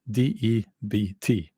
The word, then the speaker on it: debt: You're looking at debt. Oh, that's a difficult word to pronounce. Why is there a B there? DEBT.